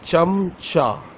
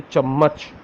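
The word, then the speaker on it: چمچہ: So chamcha, okay? The actual word is chamcha. Chamcha. Many people say chammach and some say chamcha, okay?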